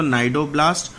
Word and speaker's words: Cnidoblast: अगर आपसे कोई पूछे तो नाइडोब्लास्ट और नाइडोसाइट्स टेंटिकल्स को बोला जाता है और इसीलिए because of these name it is called as the Cnidaria. यहाँ पे सी साइलेंट है सभी में।